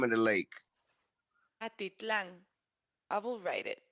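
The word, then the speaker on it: Atitlán: Atitlan. I will write it. How was it in English? Attic land? Atalan? I think it's didn't you send it? It's like Lake Atalan. Atitlan.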